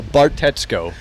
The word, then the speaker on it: Bartetzko: So Bartetzko. Bartetzko. Oh, it's so close. That's not You sound like a middle linebacker for like the Chicago Bears or something. Hey, I like that idea. like 55, Bartetzko.